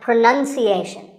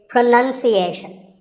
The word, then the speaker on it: pronunciation: you say it well we say pronounce pronounced and pronouncing but pronunciation there's no noun in this word it's pronunciation word number two is